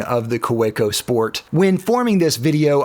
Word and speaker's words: Kaweco: And as a little gag, I have some stickers and some shirts with the correct pronunciation of this pen brand, Kawico, of course.